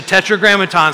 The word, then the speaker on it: Tetragrammaton: Some of the, just say Tetragrammaton so you can pronounce it correctly.